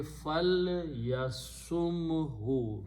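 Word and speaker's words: فليصمه: And for that, he will pronounce this as a sukoon. So it will be fal yasumhu.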